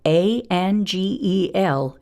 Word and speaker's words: angel: When the G is followed by an E, it's going to make a soft sound, J. So A-N-G-E-L is going to say angel.